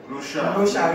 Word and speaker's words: Locha: Ok, au lieu de Locha Rémi Ministries, c'est R-E-V-D, Locha, comme ça se prononce.